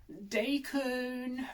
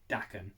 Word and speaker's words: Daken: and just being like decon just literally like that that's not how you pronounce it as well my stepmom japanese she confirmed it's pronounced dakkan not daikon but yeah i'd have